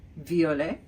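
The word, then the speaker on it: violets: Color Purple masculine form Viet feminine form Viet now H plural form VI there is an S but I didn't pronounce it so that must mean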